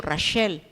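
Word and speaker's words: רחל: llama el kibutz Rachel porque así se pronuncia el nombre de Raquel en hebreo Rachel y ahí están tres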